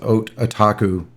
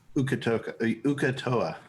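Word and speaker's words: Uk'otoa: And she prayed to their god, I can't pronounce it, Otaku. Ukatoa.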